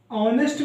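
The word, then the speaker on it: honest: पे बता सकता हूं एक ऑनेस्ट ऑनेस्ट में क्या होता है ह साइलेंट होता है तो हम इसमें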